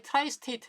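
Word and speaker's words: tri-state: 근데 이제 이런 로직 중에서 이 트라이 스테이트, 이걸 이제 트라이, 세 개다 그래가지고 트라이 스테이트라고 보통 발음을 하는데요. 쓰리 스테이트라고도 그러고.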